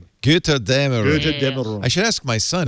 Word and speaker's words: Götterdämmerung: And how do you pronounce this? A umlaut? It's like an AE. Götterdämmerung.